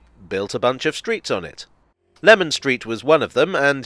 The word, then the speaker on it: Leman Street: the more citrusy way I'm inclined to say that Lemon Street is probably the more historically correct pronunciation but place names evolve